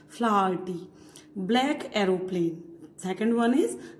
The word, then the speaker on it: Flaherty: Liam, the pronunciation of his name is Liam O Flaherty. H is also pronounced here. Flaherty.